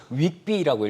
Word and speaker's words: WGBI: 네, 이 WGBI 발음이 네. 좀 어려워요. 네. 뭐 채권 시장 하시는 분들은 이거를 윅비라고 읽으시더라고요. 윅비, 네, 이렇게 읽으시더라고요.